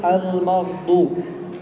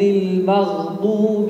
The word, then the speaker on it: المغضوب: ذلك كثير من الناس يقول المغضوب، أين الغاء؟ لم يستطع أن ينفذها لأن الضاد قوي، ولذلك يجب أن توضح الغاء والضاد.